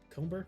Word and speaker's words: Comber: the brine comber yeah cumber that is how you say that nine cents that's a weird comer there's a b in there yeah but it's like the word comb ah i see it's